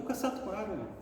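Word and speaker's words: Kasato Maru: deles né e aqui o famoso C Maro é caat Maro ou cassat Maru não Cat Maro é correta a pronúncia isso meso aqui alguns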